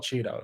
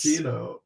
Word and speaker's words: Chino: That's Chino. That's not Cheeto. That's Chino.